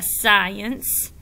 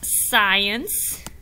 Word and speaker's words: science: Yeah, you don't hear the C. Yeah, all you hear is the S.